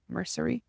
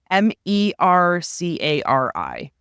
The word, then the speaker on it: Mercari: How do you say it? Mercury? Mercari. It's like the new eBay.